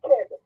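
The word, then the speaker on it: Geb: The earth is represented as male, Jeb or Keb. You could pronounce it with a G or with a K. G-E-B or K-E-B.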